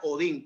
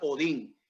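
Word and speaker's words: ὠδίν: Ahora bien, la palabra dolor, amén, o principio de dolores, la palabra dolor es una palabra griega, amén, que se pronuncia Odín.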